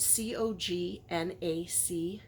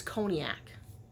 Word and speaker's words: Cognac: I used Congac, which I had to ask my husband how to pronounce, because it spells it C-O-G-N-A-C, and I thought it was Cognac, and he's like, no, it's Congac.